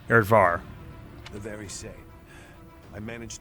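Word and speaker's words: Areadbhar: is happening with uh not aried bar but aired bar here or he said it aired var var right okay erdvar the very same i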